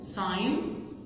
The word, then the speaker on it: sign: بعد كده هنا GN تبقى G silent, like no, no, sign, design. no, no, sign, design.